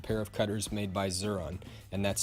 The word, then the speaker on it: Xuron: Second place for me is this orange-handled pair of cutters made by Xuron, and that's spelled X-U-R-O-N.